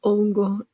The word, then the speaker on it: hongo: __ ] out a hongo is a mushroom it's it's Ono H is silent h is silent in Spanish but it goes along